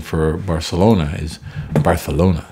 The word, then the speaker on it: Barcelona: pronunciation for Barcelona is Barcelona that's how they speak in Catalonia where it is I